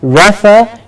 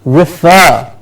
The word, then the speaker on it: refer: earlier and we said it's not Rafa it's refer concerned concerned then we have